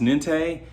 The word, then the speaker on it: NINTE: I believe it's pronounced Nente.